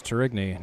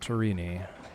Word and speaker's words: Tourigny: three for Mr tury that is tury not torini JJ The Grand Tour t t almost caught myself saying it wrong after intentionally saying it